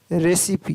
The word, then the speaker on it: recipe: RECIPE, रेसिपी, तो यहाँ पर छोटी का ध्वनि आ रही।